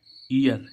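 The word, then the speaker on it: ear: भी किसी वर्ड में ई ए आए तो और इस ईए के बाद और इस ईए के बाद आर आए तो इसका उच्चारण इ आ से होता है ठीक है गाइस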